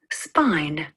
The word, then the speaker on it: spine: When you add a silent E to the end of the word, it makes the letter I use its long sound. Spin becomes spine.